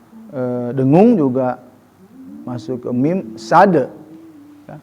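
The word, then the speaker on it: صاد: Jadi dengung juga masuk ke mim sad. Ya, pengucapan sin ya. Itu pertemuan dua bibir ya, dengan ujung lidah. Sad, jangan syad. Awas hati-hati ya. Bedakan antara sa, sya, tha. Ya, huruf jelas beda ya.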